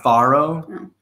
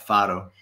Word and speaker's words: Faro: photo so it's not faro but faro like soft r sounds not like a d softie so i would